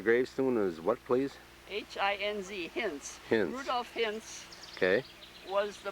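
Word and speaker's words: Hinz: name of the gravestone is what please h-i-n-z hints rudolph hints okay was the barber in haika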